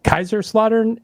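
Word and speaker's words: Kaiserslautern: If I look at your Band Camp page, it says you're from Kaiser Slaughter. Am I pronouncing that right?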